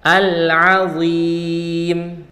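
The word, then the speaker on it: العظيم: rabbiyah dan yang terakhir di bagian al-azim di sini pakai huruf Ain yang keluar dari tengah tenggorokan ah Nah setelah huruf Ain itu pakai huruf DHA yang keluar dari ujung lidah bertemu dengan ujung gigi seri atas suaranya tebal al-awim jadi cara baca yang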